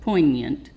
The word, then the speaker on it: poignant: The G is silent, poignant.